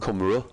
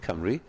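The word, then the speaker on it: Cymru: had it spot on not camera as some people say in other pronunciations but Camry and sanit was spot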